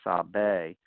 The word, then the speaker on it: Sabe: In other words, it'd be Sabi, it should be Sabe, just so that the actors would pronounce it proper during the air.